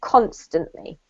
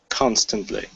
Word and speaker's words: constantly: first one is here constantly emphasis on the first syllable constantly constantly yes that's great this